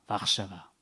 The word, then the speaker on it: Warszawa: On prononce local, Warszawa.